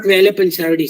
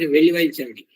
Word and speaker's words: Velivaichadi: Not Velapanchavadi, sir, Velivaichadi.